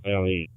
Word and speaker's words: Louisville: Yeah, it's LOUAVILLE. Red Bull gives Copy you that. The S is silent.